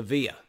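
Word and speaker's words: villa: the last part put in your notes the via v-i-l-l-a the town that is going to be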